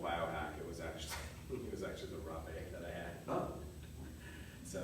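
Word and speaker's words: rapé: Rape, it depends on the region, but it's like rape. And it actually is spelled like rape. Yeah, R-A-P. Yeah, with a little Okay, explanation. you pronounce the E.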